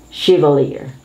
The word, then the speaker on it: chevalier: is one of the undergarments of women chivalr chevalier this is a state of knighthood in the french company this is usually the lowest in the in their order of nobility chevalier chevrolet is a brand of a car chevrolet